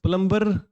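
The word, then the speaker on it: plumber: word है हमारे पास यहां पर बी साइलेंट है यह क्या होता है दम और प्लंबर बोलते हैं हम यह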